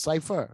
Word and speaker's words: Cipha: Like it's spelled Cipha, pronounced Cipher.